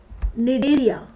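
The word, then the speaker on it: Cnidaria: सी एनीमोनस belongs to the film निडेरिया। इसमें सी silent है।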